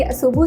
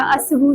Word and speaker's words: Assabooh: अनुषी, ये नाम है मेरा असबू, असबू करके हम प्रोनाउंस करते हैं इसको, और ये बेसिकली अरेबिक वर्ड है अरबी का, और इसका मतलब है पाकीज़ा।